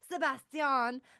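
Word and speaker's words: Sebastián: Sebastian must feel or Sebastian because he's got an accent on the A in his name by the way. Sebastian must have felt like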